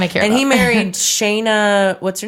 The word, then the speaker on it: Shanna: It was pronounced Shayna, but it's spelled Shanna.